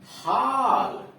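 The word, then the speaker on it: haul: डब्ल्यू जुड़ा हुआ हो, तो ए यू या ए डब्ल्यू का उच्चारण आ पर चंद्र बना हुआ ऊपर आ होता है। जैसे हाल, एच ए यू एल, हॉल।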